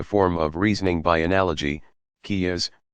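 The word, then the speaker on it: qiyas: of reasoning by analogy kia's pronounced ki yaa s that followed strict rules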